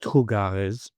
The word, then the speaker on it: trugarez: t r o u g a r e z which is pronounced "trugarez" as if it were red as if it were read by a French person.